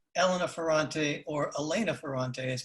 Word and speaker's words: Elena: yeah but in spanish in spanish it is elena in spanish you would read it elena ferrante with the accent with the accent on the second syllable but you would still say elena because she's italian yeah you you don't